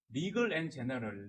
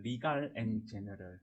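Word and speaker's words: Legal & General: 자, 그리고 다음 공시 리글 앤 제너럴, 리갈 앤 제너럴 한국 발음으로 하면 자, 리글 앤 제너럴 LGI라고 하는데 여기 잘 안 들어보셨을 것 같은데 이 회사 상당히 큰 회사입니다.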